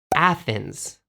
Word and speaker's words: Athens: And the capital city of Greece in Japanese is Athene. But how do you say that in English? Athens. Athens. It's pretty different, right?